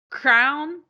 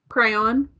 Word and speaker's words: crayon: Yeah, it's like it sounds like a crown that you wear. I don't know how they say it. Crown. I don't know. What do you say? Crayon. I say crayon.